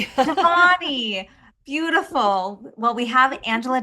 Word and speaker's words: Devani: Devanni. Deani.